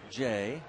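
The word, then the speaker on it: J. A.: only to him he says uh he prefers Jay and he was asked about well then why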